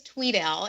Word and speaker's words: Tweedale: Is it Tweedale or Tweddale? It actually is Tweedale. It's spelled phonetically incorrect. So it is spelled with one E, but it's pronounced as if there are two E's.